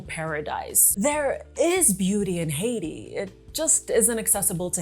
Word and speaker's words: Haiti: I'll probably oscillate between the pronunciation Haiti and Aayiti. Uh, I grew up saying I and so it sounds more natural to me, but I know that in English it's Haiti.